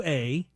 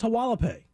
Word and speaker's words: Hualapai: Hualapai. I think it's pronounced Hualapai or Wallapai. I see. That sounds like that HUA. you go ahead and say, LA.